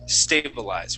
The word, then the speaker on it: stabilize: word one more time it's stabilize it stabilize with an accent at the very beginning stabilize stab stabil stabilize